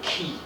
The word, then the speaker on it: Ki: dialect ah all right the Mandarin is modern pronunciation all right so where I come from is the engine when the engine is called key okay right that's why